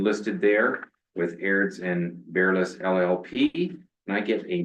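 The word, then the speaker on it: Berlis: appointment of Aird and Bearless, is that how you pronounce it? Correct. Bearless LLP as the Integrity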